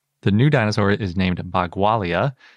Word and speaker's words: Bagualia: if you can't tell by the way i'm pronouncing it the new dinosaur is named bagualia not to be confused with bhagwalasaurus when i